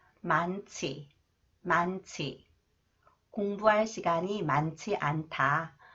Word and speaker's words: 많지: This one 치앤 니은 히 change it sound 만치 만치 공부할 시간이 많지 않다 공부할 시간이 많지